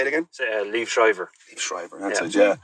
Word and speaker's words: Liev Schreiber: I never pronounced that man's name. Say it again. Liev Schreiber.